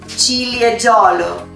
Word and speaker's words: Ciliegiolo: Repeat with me, Ciliegiolo.